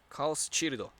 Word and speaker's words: Chaos Child: In terms of anime that I'm interested in right now, I'm interested in Chaos Child. I think that's what it's called. Chaos Chirdo. That's how I would pronounce it in Japanese.